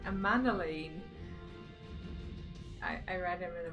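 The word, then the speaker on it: Emmanellain: That's how you say his name, Amanalain.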